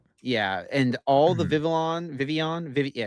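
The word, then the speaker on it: Vivillon: It is Vivian. Yeah. You just don't pronounce either of the L's. It's French. Vivian.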